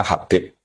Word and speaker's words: Habib: Itu di harokatnya kitab itu ada yang nulis Hubab. No, yang benar, yang benar itu bacanya Habib.